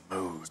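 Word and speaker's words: MUÜD: How do I pronounce it? Mood? Yes. Mood.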